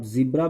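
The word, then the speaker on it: zebra: चलिए ZEB, रुक जा रुक जा रुक जा, RA जेब्रा। इसका एकदम दोनों प्रोनाउंसिएशन बेटर है। इसको आप जिब्रा भी बोल सकते हैं या जेब्रा भी बोल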